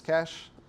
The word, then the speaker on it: cache: downsides of this um rhymes with catch it's cache how AB testing essentially